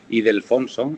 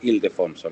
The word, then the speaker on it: Ildefonso: comentando antes al principio, yo a veces pronuncio mal la segunda parte, digo Ildefonso y es Ildefonso, la granja de San Ildefonso.